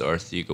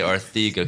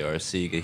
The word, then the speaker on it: Arcega: I'm looking forward to seeing more of is our theca Whiteside I had to say our theca because apparently that's how you pronounce yeah and that's but he doesn't care if you say Arcega he understands it looks like Arcega and that